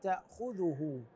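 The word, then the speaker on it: تأخذه: هو الحي القيوم لا تاخذه الاشتباه يحصل في كلمه تاخذه هنان الذال مضمومه بعض الناس يقراها بالفتح لا تاخذه هذا مو صحيح ننتبه ننتبه ننتبه الى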